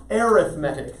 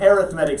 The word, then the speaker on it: arithmetic: geometric geometric sequence and the one that's hard to pronounce because we're used to saying it a different way um Cory G ometric sequence and arithmetic sequence an arithmetic sequence we're saying arithmetic but arithmetic sequence and what's the difference